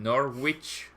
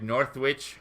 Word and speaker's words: Norwich: second to last stream, I said Norwich or something like that, like North. Hello, people. Northwich. I see you. Sorry, see you. I said something like Northwich, and I had a few comments saying you shouldn't pronounce it like that.